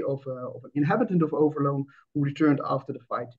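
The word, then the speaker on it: Overloon: indeed a presentation on the battle of overloan as we call it in the Netherlands but yon I think you did a very good job in pronouncing it uh in English but I will stick to the Dutch which is overloan um and the title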